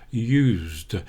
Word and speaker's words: used: used fresh bread but notice here I'm not saying I used I'm saying I used used the final D is a D in this case I used fresh bread when we're familiar with an action we say I'm used to doing something and now it's changed back again used use the final D has changed to a T I am used to